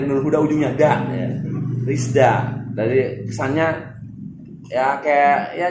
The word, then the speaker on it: RISDA: ini nyebutnya Rizda. Nah, Enteng di lidah gitu. Iya, benar. Hanya mengambil nama dari Nur Huda ujungnya da. Ya. Rizda.